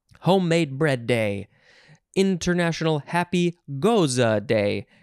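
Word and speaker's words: Gose: International Happy Goza Day. And that is Goza, the beer. It's like a beer. It's related to beers. G-O-S-E.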